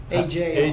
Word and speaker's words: ajo: AHO? AJO. AJO. Just like the town of There's a road out here that says Aho, and that's where it came Spanish from. pronunciation. Yeah. Means garlic.